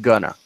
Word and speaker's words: gonna: in formal writing basically in informal speaking it is sometimes pronounced gonna and this is how